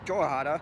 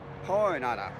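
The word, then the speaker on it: Jornada: Well, it has a J on it, but it shouldn't be pronounced Jorhada. It's actually pronounced Hornada, because that's a Spanish word.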